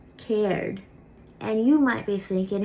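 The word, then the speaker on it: Céard: In Connacht, it's cared. And you might be thinking, hey, you done lied to me. You said there were only 3 Irish question words. Well, I didn't lie. Cared is actually a contraction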